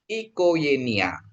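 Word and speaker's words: οικογένεια: E ingat kalau ini Gama ketemu E dia jadi Y ya yama ketemu Yota dia juga ya jadi Y. Jadi bacanya dia ikoenia ya.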